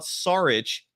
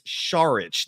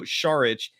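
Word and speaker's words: Šarić: last name is not sarich it's charich the S is actually pronounced like an sh so Dario sharich is your backup center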